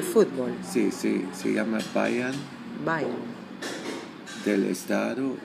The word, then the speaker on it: Bayern: En Baviera, y Baviera se pronuncia en alemán Bayern, y en latín es Bavaria.